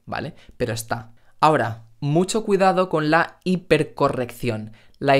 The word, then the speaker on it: cuidado: diciendo en dejar mucho cuidado cuidado no cuidando estos tres fenómenos sólo